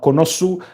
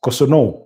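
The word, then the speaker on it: Kossounou: Then they have Konosu or Koso. Yes, Koso is is the proper pronunciation.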